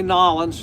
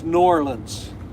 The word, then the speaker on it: New Orleans: up, but don't say Nolans, don't say New Orleans, it's Norlands. Definite N, definite O, and then the Orleans, Norlands is how the locals pronounce it.